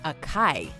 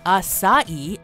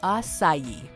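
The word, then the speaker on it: açaí: challenging names number 10 acai the uninitiated might pronounce it as a chi but when talking about this trendy berry it should be pronounced acai or acai the fruit actually comes from the acai palm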